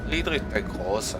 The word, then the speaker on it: Friedrich der Große: Friedrich der Große. German pronunciation right there.